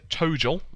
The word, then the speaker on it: ToGL: And so now they've released ToGL. I hope that's how you pronounce it.